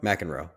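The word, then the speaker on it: McEnroe: funny too there who mck androy Mack androe Mack androe that's how you say it yeah there's a few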